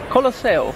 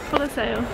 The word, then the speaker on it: Colosseo: And Colosseum? Colosseo. Colosseo.